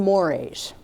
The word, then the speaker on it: mores: Basically, what we're looking at here is behavior that violates society's norms and mores. It looks like mores. It's pronounced more.